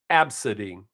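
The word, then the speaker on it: Abcde: that's a real name it's pronounced absidy your parents name you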